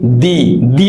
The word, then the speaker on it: the: क्योंकि ई जो है ये एक वॉवेल है, तो अब इसकी जो प्रोनाउंसिएशन होगी वो होगी दी एंड।